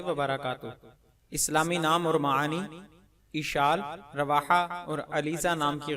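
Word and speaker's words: عشال: جواب: اشال عین پر زبر اور شین پر تشدید کے ساتھ عربی زبان کا لفظ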